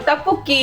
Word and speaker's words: tteokbokki: I did say it wrong it's okay so tafuki is a Korean rice cake and it's usually